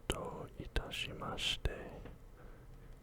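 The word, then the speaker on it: どういたしまして: Do itashimashite. Do otashimashite. You're not pronouncing the I, it's not mashite. It's do itashimashite.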